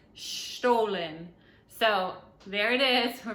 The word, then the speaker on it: Stollen: So it's stolen, but the gentleman said it's not stolen, it's Stollen.